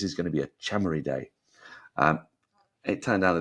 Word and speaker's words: Chamari: they got off to a flying start and chamari looked absolutely on it or should I say chamy because that's apparently the correct pronunciation but we've just been getting it wrong